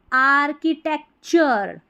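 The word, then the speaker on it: architecture: च नहीं क तो आर्की टेक टी ई सी टेक और टी यू आर ई को क्या पढ़ते हैं? टी यू आर ई को चर पढ़ते हैं। तो पूरी स्पेलिंग हो गई आर्किटेक्चर।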